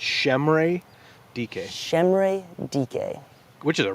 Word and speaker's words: Chimere Dike: the last 2 months learning how to pronounce Shemre Dike. That's a lot better than I did because that would not have been my guess. Because on paper, it would appear to be Chimere Dike.